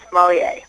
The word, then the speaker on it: sommelier: Chris is a sommelier, which is spelled S as in Sam, Ommellier, and it's pronounced sommelier.